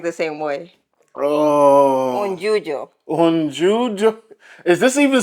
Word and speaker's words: yuyo: The juju? Yuyo. How do you say it? Y-U-Y-O, yuyo.